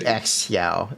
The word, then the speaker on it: Xiao: Void hunter Xiao Xiao Xiao Xiaou Xiao Xiao The X is like an S. Okay. Oh, the Xiao is pronounced differently than the Ziao.